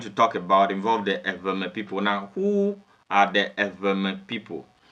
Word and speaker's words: Ewe: Now, for the purposes of this video, the real pronunciation is Ewe. But for the purposes of this video, I'm going to move with the common pronunciation. That is the Ewe people, which is the wrong pronunciation.